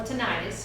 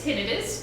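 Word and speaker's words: tinnitus: Okay, tinidis or tonitis as some some people say or tendonitis to your tendons. It's been called tendonitis about 50% of the time. So the correct way to say is tinidis, but that's okay.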